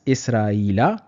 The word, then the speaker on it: Israila: We are writing and pronouncing it as Israila because Israila is a ghair munsarif ism.